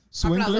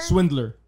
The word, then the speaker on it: swindler: Swingler. Aplauso. Swingler. Pasa. La mía aplaudiéndome. Swingler, ¿cómo es? Swinger. Swindler. Eso mismo. How do you say that? Swindler. Yeah, hay una D.